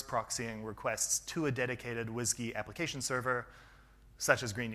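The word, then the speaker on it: WSGI: or Nginx, reverse proxying requests to a dedicated WHISky application server, such as Green Unicorn or uWHISky.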